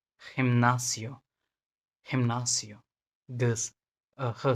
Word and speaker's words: gimnasio: लेकिन जब ये ई और आई के पहले आता है, जैसे सी आता था, तो इसका प्रोनाउंसिएशन एच होगा, kind of H, like gente, gente, Argentina,